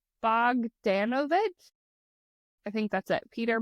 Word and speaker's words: Bogdanovich: I actually just realized I didn't learn how to say it, but it's Bogdanovich.